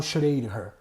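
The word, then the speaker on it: Schrödinger: entrar num consenso aí com pronunciar o nome dele mas eu falo chorei Lar é então a equação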